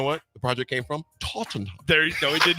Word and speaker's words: Tottenham: Nick, say Tottenham. Tottenham? No, Tottenham. Tottenham. Tottenham. There you go.